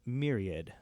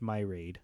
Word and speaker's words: myriad: Um, Myriad is pronounced Myriad, not my raid.